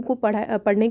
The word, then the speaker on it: coup: अब इसे कुछ लोग कूप बोलते हैं या फिर कुछ कू बोलते हैं। ये एक फ्रेंच वर्ड है और इसमें पी साइलेंट है तो कू ही बोलना चाहिए।